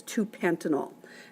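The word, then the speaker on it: pentan-2-ol: dash two dash oil but we'd still pronounce that as two Penton all now even though that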